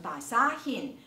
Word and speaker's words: basahin: 这里要注意有红色的字特别标记的，也就是当一个词根它后面没有喉色音，譬如像刚才的 basa 这个词根，它后面如果要加 in 的话，它要念成 basahin，那个 h 要塞进去。像后面的 bili 也是一样， bilhin 啊， bilhin 后面要加一个 h 要塞进去，而且呢不仅是塞一个 h 而已哦，还将最后的那个 i 也给省掉了，它不是念成 bilihin，而是念成 bilhin，看到吗？